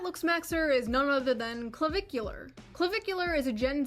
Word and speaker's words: Clavicular: That looksmaxer is none other than Clavicular. Clavicular is a Gen Z That's how you pronounce his name.